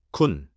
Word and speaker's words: คุณ: 군, 순과 운이 비슷처럼 들립니다.